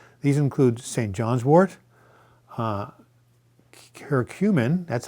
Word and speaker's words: curcumin: John's wort, curcumin, that's how you pronounce it, which is the active ingredient in turmeric, and rhodiola.